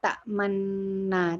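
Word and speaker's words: تَأْمَنَّا: Lihat mulutnya, jadi sebenarnya di situ adalah ta'manuna. Jadi ada dhammah yang terbuang. Jadi la ta'manuna harusnya, tapi kita ta'manna. Tapi mulutnya tetap seperti maknuna. Jadi ada dhammah yang ada bibir yang maju ya.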